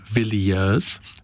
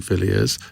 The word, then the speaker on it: Villiers: pick with me because he says I'm pronouncing your name wrong he says there are three syllables in the name vilers not two as I seem to think now I've always called you Vilas but I was I